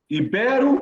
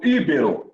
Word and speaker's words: ibero: É rúbrica ou rubrica? Ibero ou íbero? Essas palavras sempre caem nas provas, principalmente da nossa aqui, da FAPEC. Então, eu fiz questão de colocar quando estava preparando essa aula. Rubrica, ibero.